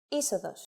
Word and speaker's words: είσοδος: If a two-vowel combination must be pronounced as a set that is accented, then the accent mark will always go to the second letter. For example, είσοδος.